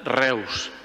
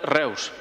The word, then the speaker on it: Reus: continuat sent algú de Reus. Només que això sí, pronunciat a l'Alemanya, perquè eu en alemany es pronuncia oi.